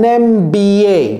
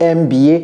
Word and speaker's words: MBA: Il y a beaucoup de vous qui ont des MBA. Ce n'est pas un MBA. Quand bien même ça commence par un M. C'est un M. Parce que M, ici, c'est comme si c'était EM, n'est-ce pas?